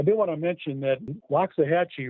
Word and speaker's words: Loxahatchee: want to mention that loxahatchee really should be pronounced low jahachi which means turtle river that's the pronunciation there was a reference